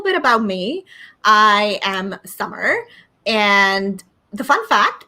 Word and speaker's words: Samar: and the fun fact my name is pronounced as summer like the season and uh you know if you ever feel confused about my name just think about the season summer right i am an